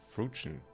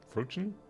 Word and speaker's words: fruition: about a game yeah it's fruit but with the Ion at the end fruition fruition sounds super funny you're